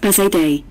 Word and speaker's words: Bazadaise: breeds bazaar days history the bazaar days pronounced bizet day originates from france and